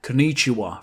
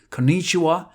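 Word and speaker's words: こんにちは: Konnichiwa, for example. The stress is not at the same spot. Konnichiwa and konnichiwa.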